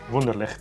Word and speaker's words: Wunderlich: Wunderlich.